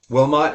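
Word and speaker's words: Wilmot: I met Wilmont. Wilmont is how you say it.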